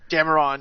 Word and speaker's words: Dameron: How do you pronounce his last name? Dameron, yeah.